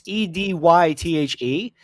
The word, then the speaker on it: Edythe: Yeah, her spelling of Edith is unique. It's Edythe. Uh-huh. So it's pronounced the same way as the traditional spelling, but I didn't want